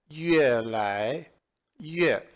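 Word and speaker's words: 越来越: And it is pronounced as 越来越.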